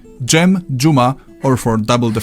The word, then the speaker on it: Dżem: For that kind of sound, you have the combination of D and Rz. Dżem, dżuma, or for double the fun, dżdżownica.